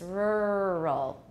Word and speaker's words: rural: And Taiwanese will usually say rural, rural. But we have R coloring in this syllable, and the R is also the initial of the second syllable. So it's not rural, it's rural. Rural. Rural.